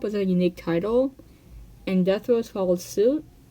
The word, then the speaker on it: DETHROEZ: Kaleidoscope was a unique title, and DETHROEZ followed suit. It is pronounced DETHROEZ.